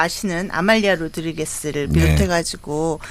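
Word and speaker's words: Rodrigues: 그때 이제 유명해졌던 노래가 아말리아 로드리게스. 어 이제 그 포르투카시 발음 이름은 이제 호드리 호드리게스인데 어쨌든 그때 이제 그분의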